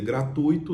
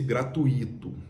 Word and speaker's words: gratuito: de uma forma tão ao invés Dee usar o de tongo né que as pessoas que a palavra ela ela ela é pronunciada com de tongo Ele usou um iato ao invés de dizer gratuito ele disse gratuito aí já comecei F